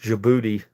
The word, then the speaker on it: Djibouti: Uh, it's pronounced Djibouti.